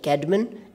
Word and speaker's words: Caedmon: But I have checked these pronunciations, so you can pronounce them the way I am trying to pronounce them: Caedmon and Ceolwulf.